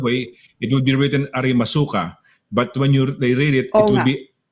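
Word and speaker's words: ありますか: Kunyari, arimasuka, arimaska. Yeah, so if you read it the Tagalog way, it would be written arimasuka, but when they read it, it would be arimaska.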